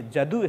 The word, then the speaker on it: जदु: प्रथम तो यदु नाम, यह जदु है, ये प्राचीन परंपरा है। यह को ज उच्चारण करने की परंपरा, तो जदु, यदु को ही जदु कहा गया है।